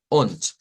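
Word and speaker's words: und: la palabra Mejor dicho on Esa es la que vamos a utilizar on se se escribe con d pero se pronuncia con t Y eso significa i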